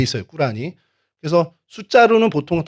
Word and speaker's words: 꾸란: 어렸을 때 그렇게 배웠는데 코란이라고 그러는 이제 이슬람 사람들이 싫어합니다. 제 정확한 발음이 꾸란입니다. 꾸란.이 이 꾸란 37장 123절에서 132절에 어 내용이 이런 얘기가 있어요.